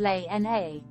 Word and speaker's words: Lena: late great grandmother her first name which is pronounced l n a is said to have been chosen just because